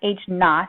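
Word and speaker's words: h₀: the H Sub Zero which is pronounced H not like if you get a knot in your hair is standing for the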